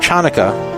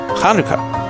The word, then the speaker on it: Chanukah: It's actually kanuka. But the first letter does not have an English equivalent.